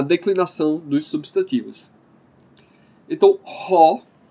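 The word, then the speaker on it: ὁ: E aí você pergunta, por que eu pronunciei ho? É uma outra coisinha que é um pouquinho complicado no grego e pode demorar um tempinho para você se acostumar. É esse negócio dos espíritos.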